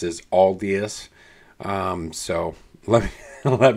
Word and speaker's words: Aldious: of guided on the way it should be pronounced as alus um so let me let me know uh